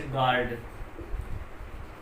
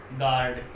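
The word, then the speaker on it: guard: तो यू जो है वो साइलेंट कहाँ रहेगा, इसके लिए एग्जांपल देख लें आप। जैसे गार्ड, गार्ड इसमें यू से पहले जी आया है, और गैस, सॉरी, गैस, यू से पहले जी आया हो, जी आया हो तो यू साइलेंट रहता है।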